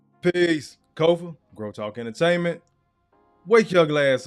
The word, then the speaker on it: Kofa: Once again, I am your humble host, Kofa, Kofa, not coffee, not kufu, not Kofi, or any variation thereof. Kofa rhymes with sofa.